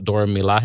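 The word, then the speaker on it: Dora Milaje: will be centered on the dora the dora milan is how you say it how they say it yep uh wakanda's all-female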